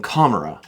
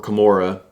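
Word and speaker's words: Commorragh: It's got something that can help them gain ground in Kamara, or Kamora, if you say it wrong.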